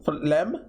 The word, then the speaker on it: phlegm: How do you say this? Phlegm? Is it phlegm? Out of my mouth. Why is it spelled like that? Why is there a G?